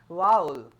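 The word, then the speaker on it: vowel: जिसे आप वोवेल कहते हैं ना, वही आपका सही प्रोनाउंसिएशन क्या है? वाउल.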